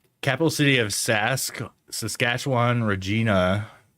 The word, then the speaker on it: Regina: Regina rhymes with that. A Regina.